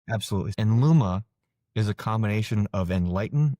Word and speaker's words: Enluma: And did I pronounce that right? Enluma?